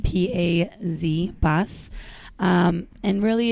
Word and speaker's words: paz: And it's spelled P-A-Z, paz.